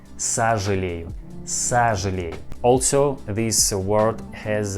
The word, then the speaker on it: сожалею: о, yes, о, but we pronounce this word like а, сожалею, сожалею, not сожалею. We pronounce like сожалею, сожалею.